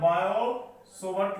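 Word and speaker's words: Biot-Savart: और इसमें जो हम लोगों को पहला कॉन्सेप्ट मिला है वो मिला है बायोट लिखा रहता है, पढ़ता है बायो-सोवर्ट लॉ, बायो-सोवर्ट लॉ, ये हमारे साइंटिस्ट का नाम है, टी साइलेंट होता है, बायो-सोवर्ट लॉ, सोवर्ट से लिखा रहता है, बायो-सोवर्ट्स लॉ।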